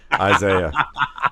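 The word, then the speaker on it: Isiah: I like Isaac Pacheco. I've always been an Isaac Pacheco say his name guy. Right then. Did I say Isaac? You did, didn't I? Isaiah. Thank you.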